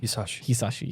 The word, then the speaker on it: Hisaishi: Oh yes, I've been trying to figure out the correct way to pronounce it for a long time. Joe Hisaishi, who said? Hisaishi, yes, you're right. Joe Hisaishi.